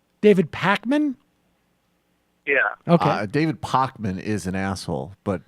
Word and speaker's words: Pakman: Pacman yeah okay David pman is an but not on YouTube where is totally different dude okay so you're you're calling to criticize David okay yeah say his name wrong it's Pacman but it's okay it's okay